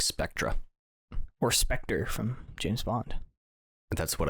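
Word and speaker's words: Spectre: spelled I look up how it's pronounced it's specter pronunciation there we go this is great play it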